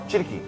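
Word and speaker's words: Tschirky: এবার সেটা খেয়ে কী হয়েছিল জানা নেই, শেফ যিনি ছিলেন, শেফ চিরকি, চিরকি, চিরকি চিরকি, মানে উচ্চারণ হচ্ছে TCHIRKY, চিরকি।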